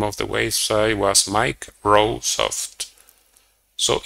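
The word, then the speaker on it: MikeRoweSoft: of the website was Mike rosoft so even though in writing it was completely different when you pronounce it it was sounding similar to Microsoft and they created a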